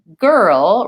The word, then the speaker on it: girl: Girl really sounds kind of like gur and then ol.